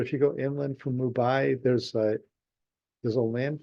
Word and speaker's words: Mumbai: somehow couldn't get that in my brain right Mumbai yeah so it's if you go I guess I haven't been there but if you go Inland from Mumbai there's a there's a land for there like